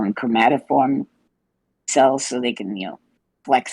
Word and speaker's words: chromatophores: It is amazing how is it chromatophore? Chromatophores. Is that how you say it? Chromatophores.